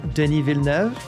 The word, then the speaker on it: Denis Villeneuve: I, of course, saw Part 1 from Denis Villeneuve, one of the rare times you'll hear his name pronounced correctly, because he's a little Quebec boy.